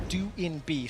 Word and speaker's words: Doinb: update we have received updated information as correctly pronounced join be his nickname it's how we used to say it is due in B so we'll be referencing it that way going